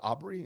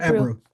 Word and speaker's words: Ebru: so so so so is it Aubrey? Is that, did I say it right? Or Ebru. Ebru. Ebru. Ebru. Ebru? Yeah. Yeah. EBRU. Ebru. Okay, Yeah.